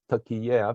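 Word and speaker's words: Türkiye: Partners so right now turkey is pronounced as turkey air because uh they do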